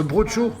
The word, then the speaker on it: brocciu: prononce pas comme ça le brunch jeu mal prononcé de brousse le boat show le brocciu ou aux choux voilà ça c'est le fromage